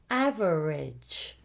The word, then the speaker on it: average: And other words that end in AGE are also pronounced ij with the I sound. For example, average and encourage and advantage. All of these produce the sound I, although it's spelt with an A.